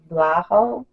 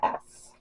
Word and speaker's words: Vlahos: I don't know how to pronounce it. It's Vlahos. Vlahos.